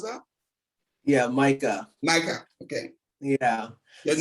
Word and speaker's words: Micah: Micah or Micah, how do you pronounce that? Yeah, Micah.